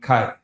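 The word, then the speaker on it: כי: one's going to be Kai. Not K, but Kai. That y'all double check that could be pronounced Kaya too, but this is how we're going to see it in the Assyrian.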